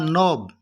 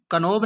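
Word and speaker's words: knob: उसके बाद नोब, कनोब नहीं बोलना है बल्कि क्या बोलना है, कि यहाँ पर साइलेंट है, यहाँ पर इसको क्या बोलना है, नो बोलना।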